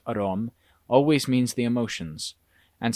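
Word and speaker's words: อารมณ์: In the Thai language, the word aramana, pronounced arom, always means the emotions, and sometimes in this book it also means the emotions.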